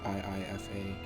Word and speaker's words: Iifa: traveled together to the ifa tree i think it's pronounced iifa tree and we took on